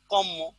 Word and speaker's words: কর্ম: সাধারণত যেমন আমি লিখলাম, দেখেন কর্ম, এখানে কি দেখেন তো একটা র উচ্চারণ আছে না, কর্ম। কিন্তু এটাকে কি উচ্চারণ করা হয় দেখেন তো? কম্ম।